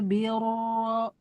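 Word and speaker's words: البر: Yafirru albir laisal birro ro birro birro tebal ya begitu ro tasydid fathah atau dommah ketika wasol wajib dibaca tebal meskipun sebelumnya kasrah.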